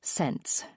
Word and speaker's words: Sense: The family surname is Sense, pronounced like sense.